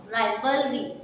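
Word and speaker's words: rivalry: तो हम ज्यादातर इसे राई के साउंड से पढ़ेंगे। क्या पढ़ेंगे? री नहीं पढ़ेंगे, इसे राई पढ़ेंगे। VAL वल और RY री, तो ये क्या बन जाएगा? राइवलरी।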